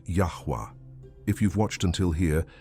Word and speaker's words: Yahweh: phonetic changes over time the original name of God in archaic Hebrew probably had the sound yahwa if you've watched until